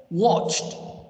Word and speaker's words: watched: this is wrong it's watched watched understand watched you pronounce the d here as t sound watched watched this is